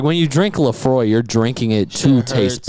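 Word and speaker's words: Laphroaig: every so often and she never pronounces laphroaire but that's all she drinks yeah she goes can I get the frag and I'm like yeah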